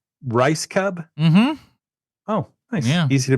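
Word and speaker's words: Rajskub: that that was my question how do you pronounce the last name rice Cub rice Cub oh nice easy to pronounce um how far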